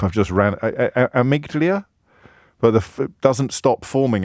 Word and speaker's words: amygdala: It's amygdala.